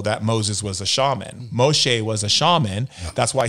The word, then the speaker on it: Moshe: Moses for an example Moses which is Moshe which is how you actually say his name um Moshe was